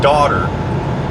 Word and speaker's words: daughter: They both have a GH, but in one of them the GH is silent, and the other one the GH makes an F.